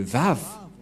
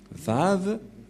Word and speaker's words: Vav: Voilà le Vav. Vav ou W-A-W. Et comment ça s'écrit, comment ça se prononce? C'est clairement V.